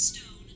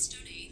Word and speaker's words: Stone: That's Stone, not Stone A. The accent to is silent.